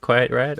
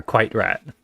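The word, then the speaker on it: QuiteRAT: that I now know how to Oh, correctly pronounce. are you done with Quiet Rat? Or are you okay? Cool. Yeah, Or Quite Rat.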